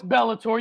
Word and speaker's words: Bellator: knuckles 9000 and i think this is pronounced bollator is it belator boletor the pride limbs are going on as we speak the prim's ablate uh no it's bellator you heard that right we'll talk bellator on